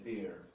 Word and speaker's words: there: Cuidado para não confundir com there. There tem um som mais aberto, um acento agudo.